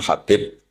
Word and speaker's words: Habib: Ada yang nulis Abi Abdurrahman Habib Asulami. Itu di harakatnya kitab itu ada yang nulis khubab. L yang benar. Oh nggih. Yang benar itu bacanya habib.